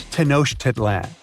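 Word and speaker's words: Tenochtitlan: Can you pronounce this name of the Aztec capital city? Yes, it's quite difficult to say in English and above my pay grade. Okay. Okay. It's Tanosh Titlan.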